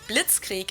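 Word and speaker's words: Blitzkrieg: actually had been used way before that we pronounce it Blitz Creek in German and it literally translates to lightning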